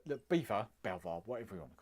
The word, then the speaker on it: Belvoir: It's spelled Belvoi. How does he get beaver out of that? It's Belvoir, isn't it?